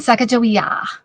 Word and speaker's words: Sacagawea: They pronounce it actually kind of like a K. So Sacagawea.